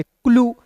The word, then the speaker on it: clue: ठीक है, फिर देखिए दोस्तों यहाँ पे CL है, तो CL को क्लॉ लिखिएगा, UE है तो इसका उच्चारण यू के रूप में करेंगे, क्लू। CLUE, क्लू हो गया ना जी।